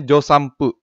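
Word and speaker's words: 助産婦: Ingat ya, N yang sebelum P itu dibacanya M, jadinya josampu.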